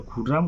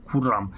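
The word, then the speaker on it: Khurram: বাজারে গিয়েছিল লিনা বাজারে গিয়েছিল মিনাবাজারে গিয়েছিল তাহলে খুররাম ওয়েন্ট টু দ্যা কি হবে মিনাবাজার তাহলে উত্তরটা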